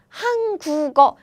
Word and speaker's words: 한국어: This sound is pronounced as G sound.